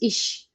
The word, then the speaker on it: ich: Now, basically, ish pronunciation is ik also, but it's just a dialect. So just use ish, okay?